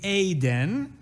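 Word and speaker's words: אדן: occasionally a proper pronunciation we told people it rhymes with play pen it was the only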